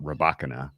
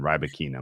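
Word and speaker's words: Rybakina: interesting quarterfinal between elena rabakina some people call her rabacana i think that's a very unflattering pronunciation ribokina much more uh much more pleasant she's taking on aaliyah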